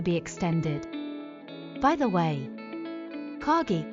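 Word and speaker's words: 陰: By the way, Kage is pronounced the same as the Japanese word shadow.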